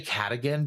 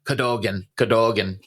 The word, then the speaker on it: Cadogan: And through Cadogan's prompting, I'm sorry, I want to say Cadigan because that's how it looks phonetically. But when I was listening to it, like when I watched this episode of John Carpenter's Suburban Screams, it was like Cadogan.